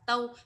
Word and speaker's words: 都: là đều làm gì, thì lúc đấy mình sẽ đọc là tâu. Ví dụ của câu là 我们都是越南人，我们都是越南人, chúng tôi đều là người Việt Nam. Thế còn khi nào đọc là tu đây ạ? Tu nó sẽ đọc trong cụm từ đó là sầu tu, sầu tu, sầu tu, có nghĩa là thủ đô.